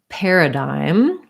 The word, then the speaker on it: paradigm: other one was paradigm again another one where spelling might be a little bit confusing because we don't typically have this combination of gm first syllable stress um we have the air vowel so ar says the air sound so this par is just like the same as a pair a pair of shoes so pair this letter